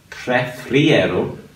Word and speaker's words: prefiero: So, prefiero. Think of it as four syllables.